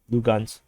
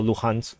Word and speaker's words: Luhansk: encirclement to so-called liberate Lugansk or Luhansk, depending on how you want to pronounce it. I think the Russians pronounce it as Lugansk, and then the Ukrainian pronounce it at Luhansk.